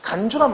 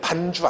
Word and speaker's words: 간주: 간주란 말은 발음을 잘해야 돼요. 반주 아니고 간주.